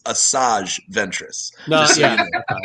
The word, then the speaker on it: Asajj Ventress: Because By I the way, think listeners out there, 7 of the 9 of us do know that it's Asajj Ventress.